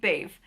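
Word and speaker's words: Badb: ever have I seen, I think it's pronounced Bave. It's this weird name. It's like B-A-D-B, but I think the D-B is supposed to be pronounced like a V, from what I can gather.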